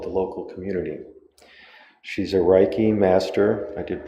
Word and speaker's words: Reiki: really cares about the local community she's a Reiki master I did pronounce that right very close I got one